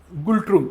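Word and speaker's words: Ngultrum: भूटनीज गुल्ट्रुम N silent होता है।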